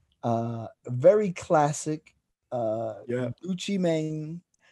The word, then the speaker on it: Gucci Mane: very classic uh yeah gucci mane that's how you say it guys put the accent on but uh that was